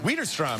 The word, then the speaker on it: Widerstrom: Widerstrom, yeah. Jen Widerstrom, yeah. I mispronounced her name yesterday.